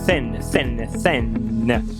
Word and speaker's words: thin: Para falar fino, não é tin nem fin. Tin é uma lata, fin é uma barbatana, então não pode substituir. A pronúncia aqui é com a língua entre os dentes assoprando.